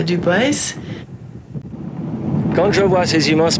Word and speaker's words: Dubois: Ici, c'est Dubois, prononcé Dubois.